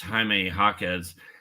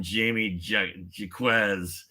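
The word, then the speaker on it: Jaime Jaquez: Tristan Tristan isol uh telling you how to pronounce haime hawz I'm sure when I called him Jamie j JZ people are just like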